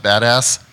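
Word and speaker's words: BDAS: uh mystery right now it's pronounced badass and um uh what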